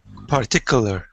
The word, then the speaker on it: particular: particular can you say particular particular don't say part say just particular particular Yeah because sometimes